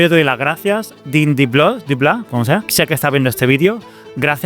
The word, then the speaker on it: Dean DeBlois: Lo curioso es que Deep Blue, yo no sé si Deep Blue se pronuncia así. ¿Y si se pronuncia Deep Blue y yo me estoy aquí haciendo el chulo? Dean DeBlois.